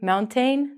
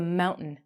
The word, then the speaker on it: mountain: go climb up a mountain no you're gonna go climb up a mountain these vowels we're going to take out the T and the A and it's going to sound like mount in curtain another example of